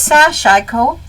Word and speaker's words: sashiko: shash how to pronounce so actually it's sash IO um IO think of IO so the first part is soft sash IO and it